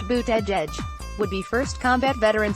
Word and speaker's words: Buttigieg: Surname is pronounced Buttigieg.